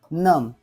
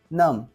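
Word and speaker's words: numb: लिम लिम ठीक आहे नम नम या बी चा उच्चार झालेला नाही ठीक आहे थंब थंब बॉम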